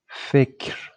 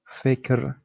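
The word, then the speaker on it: فکر: So pay attention, there is no movement on K. It's like fikr, fikr, fikr. You should pronounce re immediately after K.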